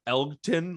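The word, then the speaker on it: Elgton: one's an easy one Elkton like Elton with the G uh Jenkins is also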